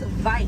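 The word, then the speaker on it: wyd: Original word for white rhino was vite. Vite means wide in Afrikaans, but over time it was misheard and mispronounced and it turns into the white rhino.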